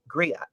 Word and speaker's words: griot: protect and enjoy your photo collection gramps and spell that g-r-i-o-t griot green grilled yeah griot right i know you've